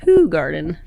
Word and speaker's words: Hoegaarden: And then my favorite beer, the Hoegaarden, is actually pronounced Hoegaarden. Oh, you've been fucking it up this whole time, Hoegaarden.